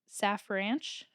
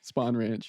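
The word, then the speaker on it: Spahn Ranch: Saf Ranch?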